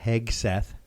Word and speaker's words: Hegseth: I found out last week that Pete Hegseth, see I'm saying it right, Good job.